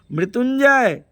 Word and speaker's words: मृत्युंजय: मृत्युंजय य के ऊपर बिंदी है जो न का उच्चारण करती है।